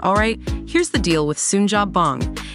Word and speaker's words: Suunjapbang: The upcoming film Sunja Bong, yeah, that's how you say it, has just dropped some major news.